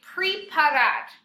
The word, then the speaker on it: preparar: And then a lot of you with preparar are saying preparar. Preparar. If it was pre, it would be P-R-I. But since it's an E, it's pray.